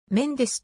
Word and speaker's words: メンデス: フランシスコの略称相性またメンデスはポロとがる子ではメンデスと発音するため醜女んですと表記されるのが一般的だがブラジルで話されるブラジルポルトガル語ではシコ麺ジスと発音するのでそのように表記呼称される場合もあるアマゾン